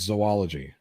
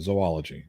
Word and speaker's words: zoology: Bridge the Divide wants me to pronounce zoology. That's how you pronounce it. Zoology, not zoology. Zoology.